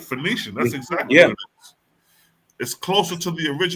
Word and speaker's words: Phoenician: Phoenician.